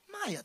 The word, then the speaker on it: Maya: It's like Gaia, but with an M. There you go. Maya, thank you.